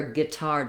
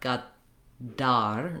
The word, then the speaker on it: Qatar: And then the T, they don't use a burst of air in the middle, so they don't say ga, ta, ta, tar with a t sound like we. So that's where guitar doesn't really work very well. They use an unaspirated T, so it's not a D, it's not gadar, not a strong D, but gadar, kind of a T